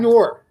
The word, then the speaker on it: noir: Noir, crime, noir. That's It doesn't rhyme with manure. IT'S NOIR.